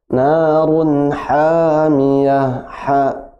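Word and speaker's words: نَارٌ حَامِيَةٌ: Narun hamiyah, ya, coba diulang. Narun hamiyah. Masih ha, lebih ditekan ya ke tengah tenggorokan.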